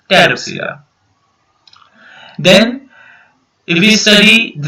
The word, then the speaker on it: Pteropsida: Then Pteridophyta, Psilopacida, Lycopsida, Sphenopsida, and Pteropsida. P is silent, so it is Pteropsida.